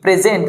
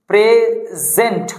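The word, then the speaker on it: present: যেমন পি আর ই এস ই এন টি প্রেজেন্ট পি আর ই প্রি প্রেজেন্ট প্রেজেন্ট এই যে এস টা প্রেজেন্ট হলো না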